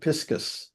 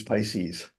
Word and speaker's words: Pisces: the constellation here, but they pronounced it piscus. Oh, no kidding. Which I've never used. I use Pisces.